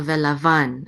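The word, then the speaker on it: לָבָן: accent might work so Vela Vaughn accent on the last syllable the Livan their means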